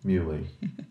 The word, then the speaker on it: Muhly: Nico Muhly? Muhly.